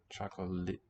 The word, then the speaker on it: 초콜릿: So when the two l, r consonants are in contact, like they are here, end of this syllable, beginning of this, it sounds like a long L. Chocolate. And a final S letter, like we've got at the bottom there, will sound like a T.